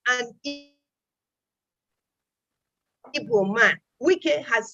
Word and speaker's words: Wike: Wike has said so. His name is not Wike. He said his name is Wike, and it is spelled W-I-K-E.